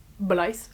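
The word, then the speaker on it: Blythe: On va suivre Blyce qui est donc cette jeune femme. Donc ça s'écrit quand même B L Y T H E donc Blyce on dire et Brigs qui est donc lui.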